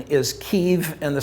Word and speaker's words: Kyiv: the west pronounce it that way the proper pronunciation is kiev and the spelling is kyiv i want to